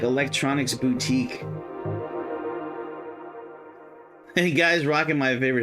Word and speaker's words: boutique: He would say electronic bouquet. I I always told him I'm like, "Dude, they don't sell flowers. It's electronic boutique, not bouquet.